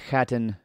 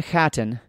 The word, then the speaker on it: Chattan: If you're new to the subject, Clan Chattan, so I'm pronouncing that with a guttural CH, because I'm just doing my best. We could go Clan Chattan, Clan Chattan.